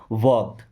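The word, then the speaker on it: walk: वॉक, अब इस word में एल साइलेंट है, क्या पढ़ते हैं वॉक, वॉक नहीं पढ़ना है, वॉक।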